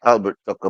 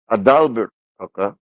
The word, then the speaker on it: Adalbert: I don't want to mispronounce his name. Not Albert Tucker, but Adalbert Tucker had a concept which was not his own.